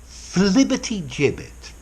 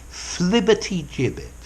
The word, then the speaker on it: flibbertigibbet: Flibbertigibbet. Let me pronounce it again. Flibbertigibbet.